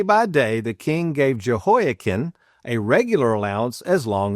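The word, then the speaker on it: Jehoiachin: Boy, having trouble saying that one. And do you say it joken? Some may also pronounce it as Joh.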